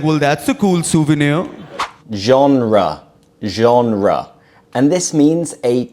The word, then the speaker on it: genre: They say genre instead of genre, which is how we pronounce it in English.